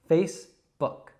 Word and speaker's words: Facebook: So a lot of learners would say book, but it's not book. It's not a long oo sound. It's actually kind of a short u sound. So it's book, book.